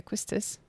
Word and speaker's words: Quistis: Quistice.